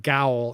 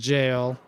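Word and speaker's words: gaol: I was 100% saying gowl in my head, and I learned later that's the old spelling of the word jail. So, anybody who doesn't know, it is pronounced jail.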